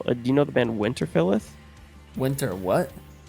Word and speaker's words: Winterfilleth: And then kind of, do you know the band Winterfilleth? Winter what? Winterfilleth. It's Fylleth. What the fuck? Spell it again? Winter, like Winter, Yep. and then Fylleth. Winterfilleth.